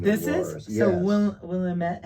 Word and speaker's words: Willamette: And then along came Willamette Valley in Oregon, northern Oregon.